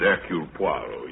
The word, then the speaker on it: Hercule Poirot: If I may be permitted, the once slight correction, my name is Eul Puarro. Your good sister proceeds on the familiar English assumption that we are not English. Do not know how to pronounce our own silly names.